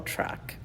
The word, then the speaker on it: Truc: walk ups but and truck is spelled TR r u c no K little truck amazing food